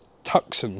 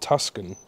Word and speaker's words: Tucson: No, it's Tucson, not Tuscan. I've been calling it the wrong name.